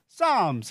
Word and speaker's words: Psalms: P도 있고 뭐 L도 있는데 발음이 안 됩니다. Psalms 해보세요.